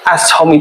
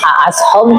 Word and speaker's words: As'HOME: Jadi asom itu sebenarnya plesetan dari nama saya sendiri tadi kan Aas. kan kalau dibilang as home kayaknya susah untuk diucapkan gitu. Jadi diringkaslah jadi as gitu.